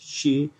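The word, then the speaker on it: sidhe: who had self realized the curious irish word pronounced she or she attributed to the fairies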